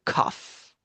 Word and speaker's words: cough: Cough.